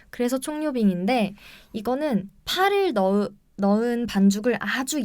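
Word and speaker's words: 蔥油餅: 그리고 한 가지는 총요빙이라고 하는 총요빙. 네, 총이 이름이 좀 이쁩니다. 총요빙. 네, 그렇죠. 파를 의미하고요. 요우가 기름이고 빙이 이제 뭐 전병할 때 그 병. 네. 그게 이제 중국어 발음으로 빙이라고 해요. 그래서 총류빙인데 이거는 파를 넣은 반죽을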